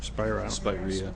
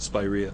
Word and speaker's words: Spirea: Spirea. How do you say it? Spirea.